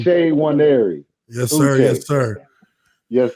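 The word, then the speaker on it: Uche Nwaneri: now okay yeah man Luce one area that's that's how you say my name day one area yes sir yes sir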